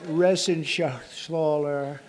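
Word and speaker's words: Reschenthaler: You know that Resenshathaler. That's actually the way you pronounce it, you know.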